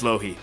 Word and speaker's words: LoHii: Do you pronounce it LoHii or Me LoHii? too. It's LoHii.